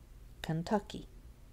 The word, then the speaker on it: Kentucky: How about Kentucky? Kentucky. Tuck. That has the tonic stress.